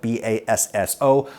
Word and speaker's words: bass: get lots of our musical vocabulary and they spell it B A SSO boso we anglicize that pronunciation to Bass honestly